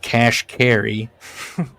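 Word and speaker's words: Kashkari: Neil Qashqari, but then he writes pronounced Cash Carrie.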